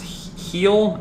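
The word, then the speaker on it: Heil: version this is a i think it's pronounced heel h-e-i-l yeah this sucker is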